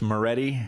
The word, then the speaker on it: Maready: Forrest Maready, and I know I've pronounced it correctly.